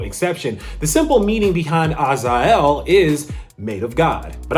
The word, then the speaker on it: Azael: But as far as I know, based on the true Hebrew version of how you say the name, it's Azael.